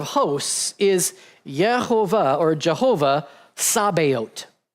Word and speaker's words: Sabaoth: And the Lord of hosts is Yehovah or Jehovah Sabaoth. Not Sabbath, but Sabaoth. If you want to spell that, it's Sabaoth.